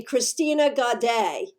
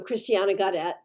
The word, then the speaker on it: Christiana Gadette: name you know like the number of people who call me christina gaday you know it's not my name i'm christiana gadette right so i know pronunciation